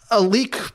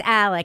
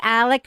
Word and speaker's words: Alec: it's Alec she says she says El because of her accent but it's Alec it's Alec Murdoch go ahead so like